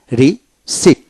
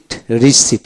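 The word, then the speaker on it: receipt: তারপর আসেন রিসিট রিসিট এখানে পীর উচ্চারণ হবে না।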